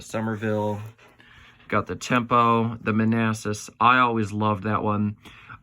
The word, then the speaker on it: Manassas: if you didn't know the battle of Manassas was a battle during I think it was the Civil War I'd have to look that up but she pronounced it in Manus and I didn't say